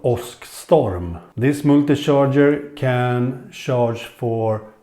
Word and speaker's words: Åskstorm: Okay, so in this video I will go through IKEA's fast charger, multi-fast charger called Åskstorm.